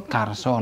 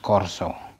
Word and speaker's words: karso: is with R sound, because A followed by R is always pronounced R, no matter if it's final or penultimate. For example, karso, not korso, wargo, not wargo, jarwo,